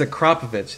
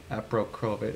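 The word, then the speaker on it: Akrapovič: Akrapovich, yeah. We could get that. Remus, I'll have to double check, but for sure, what? It's Akrapovich, isn't it? Not Aprokrovich, whatever.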